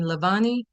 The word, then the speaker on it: Lavallais: And is the pronunciation of your name Lavani? It is. Thank you.